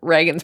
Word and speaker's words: Reagan: has been useful because the spelling of his name is R E A G an A and it is pronounced Reagan, which has helped me